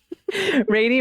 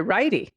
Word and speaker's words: Righty: possibly dumbest little girl Brady rhymes with Haiti good oh no I'm sorry righty rhymes with Heidi if I had kept